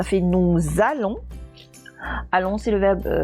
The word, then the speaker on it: nous: Nous, à la fin de nous, il y a une lettre muette. Donc, je vais la faire sonner, hein, parce que dans le verbe, juste à sa droite, il commence par une voyelle. Donc, une lettre muette qu'on sonne avec une voyelle, ça fait sonner la consonne. Nous allons, ça fait nous allons.